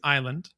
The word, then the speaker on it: island: like the S in island. The S in island was put there to make it look more like the word isle, which it